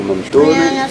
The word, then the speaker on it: Mentone: Menton qui est un mot un petit peu bizarre de ville, se prononce en italien Mentone, alors que le menton se prononce Manto.